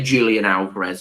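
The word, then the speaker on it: Julián Álvarez: of people do say Julian Alvarez it's yeah they pronounce a Jay with a H I said so my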